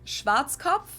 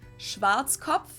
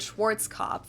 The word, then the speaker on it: Schwarzkopf: over the world pretty much in German we pronounce it Schwarzkopf which literally means blackhead Schwarzkopf English native speakers usually pronounce it Schwarzkopf or Schwarzkopf or something along those lines sometimes I don't